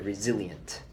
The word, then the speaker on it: resilient: we could use our old vocabulary word the resilient resilient resilient resilient re SI li en tu